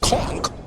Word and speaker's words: conch: this as well also I think it's pronounced conch fritters cuz when I ordered them I was like the con fritters and the waitress was like okay the conch fritters I was like conk it's not spelled that way but then